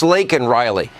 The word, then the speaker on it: Laken: It's not Lincoln. It's Laken Riley.